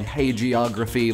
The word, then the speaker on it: hagiography: Hey geography, like, hey geography?